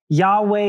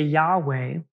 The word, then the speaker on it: Yahweh: interesting to knowe that the pronunciation of I am or Yahweh is one of those words one of the only words that you do not use your tongue for and you keep your mouth open for the entire time so when you say Yahweh one of the uh one of the ideas behind this is that the correct pronunciation actually might be an inhale and exhale yah way and if that is